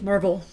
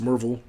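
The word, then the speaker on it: Maryville: yeah I I concur mville um oh sorry mervel Marvel it's pronounced Marvel locals don't kill me um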